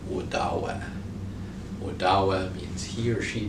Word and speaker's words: Odawa: is wadawak with daawak so odawa and ottawa are both mispronunciations of udawa odawa means he or